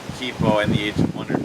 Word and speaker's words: Kipo: my previous video i have been pronouncing kaipo all wrong it's actually kippo and the age of